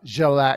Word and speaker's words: Grzelak: So how you been, Grzelak?